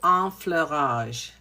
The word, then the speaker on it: enfleurage: So, one of the techniques that they used was a technique called enfleurage, which is called e which is spelled e n f l e u r a g e, enfleurage.